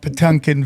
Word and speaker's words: Potemkin: It's you get into the dead internet, the Potemkin Village. How did I pronounce it correctly? Yeah, no, you did.